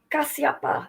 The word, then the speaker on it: Kashyapa: Okay. Kasyapa. Is that how you say it? Kasyapa Muni. I'm not sure. Kashyapa. Yeah, Kashyapa.